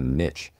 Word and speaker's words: niche: Whereas working in the Atlassian ecosystem, you could kind of, you could pick a niche or niche even, however you want to pronounce it.